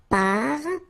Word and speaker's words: parfum: this UM like that, phonetically it's exactly the same thing as if you would have UN. So it's nasal and it's un. So it really goes in your nose. You don't pronounce the M at all.